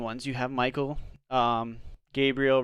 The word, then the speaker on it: Gabriel: the moment very religious the way that all of these angels names are supposed to be pronounced is with el at the end so it's me l gabriel raphael and l is